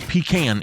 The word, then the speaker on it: pecan: It's like, it is pecan, it is not pecan. There is no O in it, and it's not K-A-H-N or K-H-A-N. And it's not C-O-N, it is can, C-A-N.